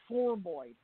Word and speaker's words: formoid: Spell that for us, please. Formoid. F-O-R-M, like form, and then oid, O-I-D. Oh, okay, formoid.